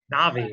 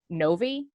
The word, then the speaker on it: Novii: it's it's so it is spelled to be pronounced like the video game character Nabi Navi okay like from the spelling from people from